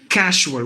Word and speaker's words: casual: If you become a master of this Jolly Phonics, you will pronounce this word as casual with the sh sound, because sorry about that,